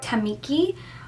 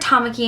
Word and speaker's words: Tamaki: pronunciations online too because I've heard Tamaki and I've heard too pinky or Tamaki I feel like it's Tamaki because that's I'm thinking of like or on host club and it was Tamaki so I'm saying Tamaki